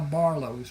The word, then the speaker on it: Barlos: And that is how Barlos was born. The name was not a problem for the people in southern Louisiana because the French Acadian influence. It is pronounced Barlo.